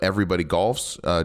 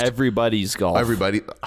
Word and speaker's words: Everybody's Golf: Am I saying it right? Possessive, yes. Okay. It's everybody's possessive golf on PS4, yes.